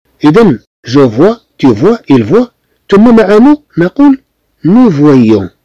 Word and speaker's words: voit: تي فوا انت ترى، il voit هو يرى. طبعا كلهم تيتنطقوا بحال بحال، ولكن في الكتابه راه مش بحال بحال.